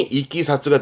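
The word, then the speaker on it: 経緯: 어떤 사건의 경이라든가이 경의를 뜻으로는 이끼사스 같은 한자인데 발음이 이끼 사쓰가 됩니다이 키사츠도 많이 써요 그러니까 단순한 일에 어떠한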